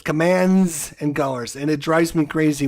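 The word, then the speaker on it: Commands & Colors: The system is called commands and colors, not command and colors. It's not command and color. It's commands and colors.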